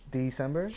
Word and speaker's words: DSEMBR: I got a really good friend of mine, Steven, also known as DSEMBR. Is that how you pronounce it?